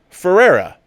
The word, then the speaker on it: Ferreira: struggling with my name you could say my surname the portuguese way but you'd have to roll your r's pronounced phonetically my name is pedro ferreira all right ferreira pedro